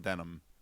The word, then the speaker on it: Denholm: Denholm, but it's pretty sure it's pronounced Denham.